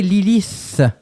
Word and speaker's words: Lilith: Blue Tide et Lilith et pas Lilis.